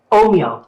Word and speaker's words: Ohmio: Ohimo.